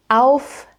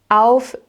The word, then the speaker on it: auf: So whenever you see an AU combination, it's always pronounced as au, au. So in this case, auf, auf.